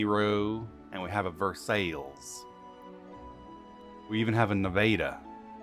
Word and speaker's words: Versailles: versailles how about that i swear we have a city called versailles and that's how we say it oh i say